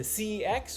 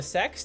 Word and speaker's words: CeX: this has been the the cx or the sex depending on how you want to pronounce it in coventry in the